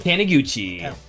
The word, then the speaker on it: Taniguchi: I would say in, is it pronounced Taniguchi or Taniguchi? Taniguchi.